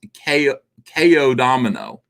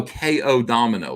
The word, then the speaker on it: Codomino: By the way, my name is pronounced K-O Domino. Oh, K-O Domino, like the game.